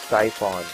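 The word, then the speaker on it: Psiphon: And in the search, you're going to type Siphon. Like this is P-S-Y-P-H-O-N, that is how it is pronounced.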